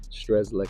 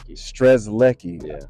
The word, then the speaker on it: Strzelecki: you is how you say your last name stres Lei stres Lei I was trying to pronounce it earlier and my tongue got a